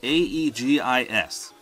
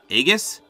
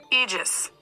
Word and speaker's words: Aegis: And the main one is huge, and it's A-E-G-I-S. So I always thought that was pronounced Aegis, but I just typed it into Google just to make sure I didn't sound dumb.